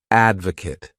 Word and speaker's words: advocate: syllables and the stress is on that first syllable Advocate to Advocate means to show strong support for